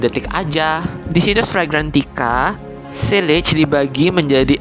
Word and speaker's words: sillage: Pertama, ada huruf S yang mewakili sillage. Itu pronunciation Prancisnya. Kalau kalian susah nyebutnya, pakai pronunciation Englishnya aja ya.